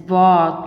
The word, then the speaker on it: walk: is silent here and it is walk not waltz walks because l is silent and it's handsome not